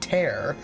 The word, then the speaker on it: tear: If English scholars weren't complete arseholes, it'd be spelled tear because it rhymes with air, while the other would be spelled tear, which rhymes with ear.